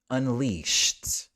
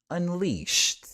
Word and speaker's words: unleashed: beloved and finally for number 10 we've got unleash shhh here this is a voiceless sound so we add that to it Unleashed Unleashed so that's it I mean